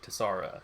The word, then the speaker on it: Tessara: No, it is Tessara, Tessara. Tessara is how I'm going to pronounce it.